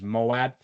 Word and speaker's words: Moawad: today and confirmed that his last name is moad um you can find all these episodes on